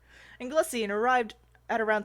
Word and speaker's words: Anglesey: Porthlogchog in Angelusy and Anglesey. Anglesey? I've been saying it wrong. Anglesey, and arrived at around 3 p.m.